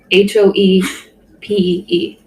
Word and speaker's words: Hopi: our shared Google Doc and wrote Hopi, Hoepee.